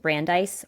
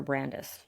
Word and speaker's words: Brandis: I think it's I don't know if it's pronounced Brandeise or Brandis. I think it's Brandice. I think well actually I mean there's no E at the end.